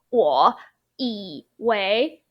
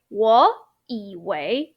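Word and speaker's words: 以为: into second tone, but you need to pronounce it as second tone, otherwise it sounds not naturally, or it doesn't sound like how a native speaker would talk like.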